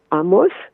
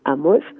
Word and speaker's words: Amos: Vous savez, il y a deux façons d'appeler Amos, ce qui est en hébreu moderne, on dit Amos, avec l'accent sur le premier syllabe, n'est-ce pas? Et Amos, avec l'accent sur le dernier syllabe.